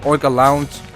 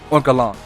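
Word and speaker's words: Oinkologne: Or was it Oinka Lounge? No. I mispronounced. It was Oinkalon.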